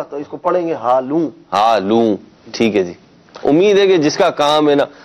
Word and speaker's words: ہالوں: تلفظ کروا ہالوں جی۔ اس میں ہے کہ بعض لوگوں نے اس کو سمجھا آلو، آلو نہیں ہالوں، آلو نہیں ہے، ہالوں جی شادی حال کی جمع